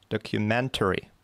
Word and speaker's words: documentary: Number five is documentary. So the third syllable is stressed.